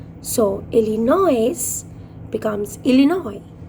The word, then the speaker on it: Illinois: and uh I s sometimes the S is silent so le noise becomes Illinois Illinois underlined the hard world